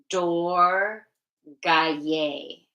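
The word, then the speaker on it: Durgayei: Om Dum Dor Gaye. Okay, that's how you say it.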